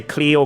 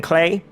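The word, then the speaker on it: Klee: thing with Tara Talia clear is the one I slip up on all the time if you go through my videos you'll see I say Cleo clay and there's like no consistency there I am still kind of trying to get used to saying clay but of course I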